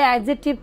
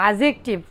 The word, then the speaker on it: adjective: অ্যাডজেক্টিভ সর্বপ্রথমে সকলেই বলে অ্যাডজেক্টিভ, কি বলে অ্যাডজেক্টিভ, এটা মূলত ভুল, ডির উচ্চারণটা হবে না, তাহলে কি হচ্ছে বলেন